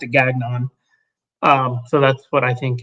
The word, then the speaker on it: Gagnon: Oddly enough, his name was Derek, and that was his last name, and he pronounced it Gagnon.